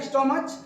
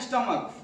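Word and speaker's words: stomach: के हिसाब से तो इसमें आप क्या पढ़ते हैं स्टमक लिखा है स्टमच लेकिन पढ़ते क्या है स्टमक तो जब क पढ़ा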